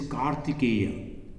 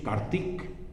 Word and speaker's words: Kartikeya: of Shiva this is kartikeya the in the eastern part and the western part is take Kartikeya and in Bengali pronunciation Kartik the last part we don't pronounce as maximum possible make it short so Kartikeya wider -